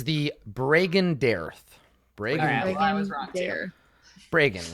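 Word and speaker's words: Bregan: the brigand Aerith break breagan rhymes with reagan yes ronald the break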